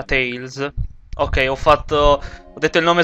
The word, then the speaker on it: Tales: Benvenuti alla 38esima parte di Tales of Banalia, perché sì, si pronuncia Tales.